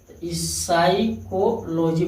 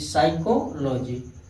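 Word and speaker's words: psychology: इसे देखिए पी यस से पहले आया है हाई पी, साइकोलॉजी पढ़ा जाता है, इसे साइकोलॉजी। यस से पहले आया पी, इसको क्या पढ़े साइकोथेरेपी पढ़ा जाता है।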